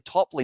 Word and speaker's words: Topley: It's actually Topley, not Toppett or Tippett or all of those ones as well.